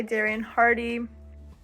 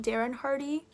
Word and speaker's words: Darren Hardy: the compound effect by darian hardy hi i'm just currently editing the video and uh his name is pronounced darren hardy not darian hardy i don't know why